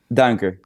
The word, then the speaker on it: Duinker: foreign how do you say your last name danker dank or okay I would have said that